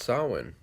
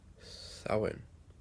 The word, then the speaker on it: Samhain: That it's pronounced Samhain. Samhain.